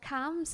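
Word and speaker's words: CAMHS: how supportive they were to you so yeah cams is basically um a service that is provided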